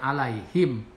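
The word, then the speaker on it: عليهم: Jadi arsala alaihim, alai adalah mad lain, alaihim ini idhar safawi. Jadi jelas dibacanya alaihim.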